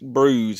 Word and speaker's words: Brouzes: I asked him how to pronounce his name, and he said kind of like bruise, like you bruise your knee or something. So I'm going to say Nick Brouzes, and I'm hoping I didn't mess that up.